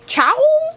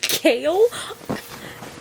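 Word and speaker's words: Chaol: I'm butchering this aderin adland how do you pronounce the guard's name Chow kale kale I'm going to call him Cole let's look up the c h a o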